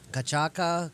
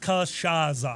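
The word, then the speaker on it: cachaça: Cachaca de Jambu. Jambu Cachaca. Cachaca de Jambu? It is pronounced Cachaza.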